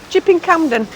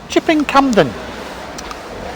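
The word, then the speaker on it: Chipping Campden: street in shipping camden i can't say it properly chip in camden chipping camden oh oh look at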